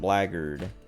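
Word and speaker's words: blackguard: i thought black flaggered like black guard is pronounced blaggered so like why anyway i don't know i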